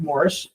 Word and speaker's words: Moors: Even though they spelled it Moors, they pronounced it Morris.